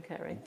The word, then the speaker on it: Carrey: Yeah, it's two Rs. Jim Jim Kerry. Jim Carrie. Oh, it is. But it is definitely pronounced Kerry. Kerry, isn't it?